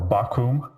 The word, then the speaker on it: Bakkum: And the names of my guests are Douglas Bakkum, or Bakkum, as it's pronounced in German, and Jonas Schnelli, who is also a Bitcoin Core developer, and this is going to be very interesting.